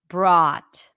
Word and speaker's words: brought: about the pronunciation because we have the o u here here it represents the a sound or a in Father brought just like thought and taught brought okay good yardman is asking